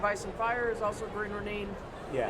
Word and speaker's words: Green Ronin: The Song of Ice and Fire is also Green Ronin. Yeah. It's Green Ronin. Okay, my bad. We got schooled on the correct pronunciation of their company name by Chris Promise.